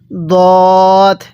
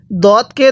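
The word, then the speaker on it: ض: এরপরে দদ, এই দদের উচ্চারণটাও ভিন্ন, দালের উচ্চারণটাও ভিন্ন, তাহলে সদ।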